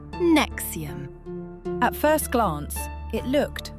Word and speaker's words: NXIVM: Pronounced NXIVM.